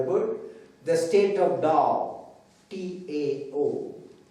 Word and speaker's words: Tao: the state of Tao, T-A-O. Tao is pronounced as Tao, spelled as T-A-O, Tao.